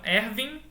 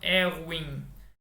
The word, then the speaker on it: Erwin: O primeiro nome dele é Erwin. Né? Então Erwin, mas se escreve com W, né? Que como ele é alemão, se lê como um V. Então a gente não fala Erwin, a gente fala Erwin.